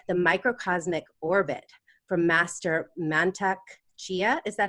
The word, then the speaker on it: Mantak Chia: has since learned the microcosmic orbit from master mantak chia is that how you pronounce that yes great Tantra from Charles Muir